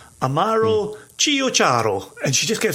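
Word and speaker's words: CioCiaro: So it's Amaro, Amaro, separately. Chio, CIO, separate, CIARO. Amaro Chio Charo. And if you can start to say it like that, you already sound like you know what you're doing.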